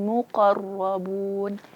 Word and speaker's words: muqarrabun: Muqarro, muqo bukan juga karena tadi tebal, akhirnya dimonyongkan bibirnya. Muqo, salah. Tapi muqo, muqarro.